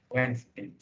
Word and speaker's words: Wednesday: So the correct pronunciation is not Wednesday, not Wednesday, but it is Wednesday.